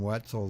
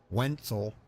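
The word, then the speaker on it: Wentzel: to drive as you can see uh jordan wetzel there wenzel uh i'll make sure i pronounce that correctly wenzel w-e-n-t-z-e-l wenzel uh i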